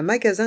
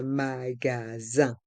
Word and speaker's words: magasin: Dans le mot magasin, il y a le son un avec les lettres I et N. Et le S est entre deux voyelles, donc on le prononce Z. Un magasin de vêtements.